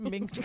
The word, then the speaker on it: minced: You would say like mint garlic? I think I would say like mint garlic. It's minced garlic.